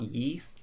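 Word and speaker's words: Ys: those it's as pretty I believe it's pronounced East but it's about Y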